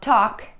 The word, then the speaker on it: talk: Да, в словах talk и walk мы не произносим букву L.